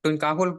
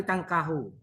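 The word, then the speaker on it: تُنْكَحُ: Ya, tunkahul, Pak. Iya, kamu bacanya apa tadi tangkahu?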